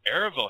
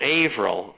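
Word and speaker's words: Averell: But this Erival Harriman, he was a big player in the New World Order, wasn't he? Well, Averill is how it's pronounced, Averill Harriman.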